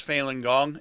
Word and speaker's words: Falun Gong: And excuse me, is this similar to what they're doing, persecuting those who practice Falun Gong? Am I pronouncing that correctly?